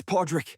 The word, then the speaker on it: Pawdrick: Pippen, it's Podrick. But I don't even mind that you got my name wrong.